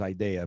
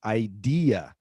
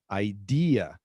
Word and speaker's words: idea: that i hear is idea but as you can see here it's idea idea and the stressed syllable is the second syllable idea so i have an